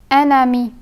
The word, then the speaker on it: un ami: The letter N of the word un becomes pronounced and the N sound gets transferred onto the word beginning with a vowel. So when the two words are read together, they would sound like an ami and not as un ami.